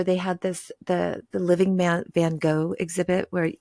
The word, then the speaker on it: Van Gogh: Van Gogh. Yeah, it's Van Gogh.